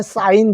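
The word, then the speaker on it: sign: 사이에다가 니은 받침하면은 사인 되죠. 그래서 요 지자는 소리가 안 납니다.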